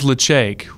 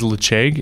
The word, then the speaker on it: Ledaig: It is Ledaig. Recently, there's been some question and comments over the pronunciation. It is Ledaig, and we are huge fans.